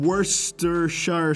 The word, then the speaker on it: Worcestershire: shit gets worse than Worcestershire sauce. That's literally it. The joke is that the first syllable in Worcestershire sauce sounds like the word worst.